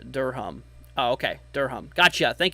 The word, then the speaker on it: Durham: missed my house also Durham is pronounced like uh Durham oh okay Durham gotcha